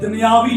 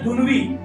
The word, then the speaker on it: دنوی: اب لفظ دنوی ہے، عام فہم لوگ دنیاوی لفظ بولتے ہیں، لیکن یہ لفظ کا تلفظ ٹھیک نہیں ہے. لفظ ہے دنوی.